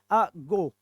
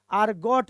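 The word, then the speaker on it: argot: तो ईडियम हो गया, लेकिन इसमें आर साइलेंट रहेगा और टी साइलेंट रहेगा। तो इसका होगा आगो। क्या होगा? अगो, अगो। ठीक है, तो आर्गोट नहीं होता है, एरगोट नहीं होता है, अगो होता है।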